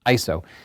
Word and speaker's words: ISO: your image is the iso it's not pronounced ISO it actually it is not spelled out because it's not an acronym you don't believe me